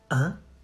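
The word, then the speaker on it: hein: You say un. The H is silent, so don't you say huh. You say like the number one.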